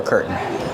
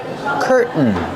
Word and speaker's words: curtain: we have two pronunciations you can pronounce a t and say curtain curtains or you can do the stop T curtain and then link to the end sound curtain or curtains this is a